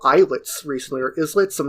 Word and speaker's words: Islets: through a Metroidvania called Islets recently, or Islets. I'm not sure how it's pronounced, but it's a Islets. I don't know. Islets. It's like small island, like isles. So islets. Yes.